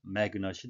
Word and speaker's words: magnet: 우리말 표기로는 마그넷이라고 쓰기도 하는데요. 영어식 발음은 magnet이 되겠습니다.